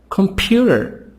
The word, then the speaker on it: computer: Computer. So here the stress is in the middle.